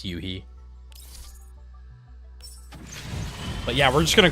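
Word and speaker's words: Yoohee: now, cuz now um Yui, I keep saying Yohi cuz that's how it's spelled and in English that's how you'd pronounce it, but I know it's Yuhi.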